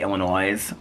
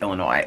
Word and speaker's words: Illinois: like when people say Illinois with an s on the end of it they say Illinois I'm like it's Illinois that's like one of